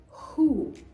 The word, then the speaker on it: who: whole whole whole so the H is pronounced while the W is silent we'll delve into that